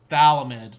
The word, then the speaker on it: phthalimide: The way you want to pronounce this word is don't say think the pH is silent. So it's this phthalimide. Don't say the F sound.